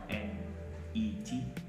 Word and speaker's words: internet: And when you say silent T, the T sound is omitted in the word. When does this happen? It happens when the T is usually placed after an N and the syllable where it belongs is not stressed.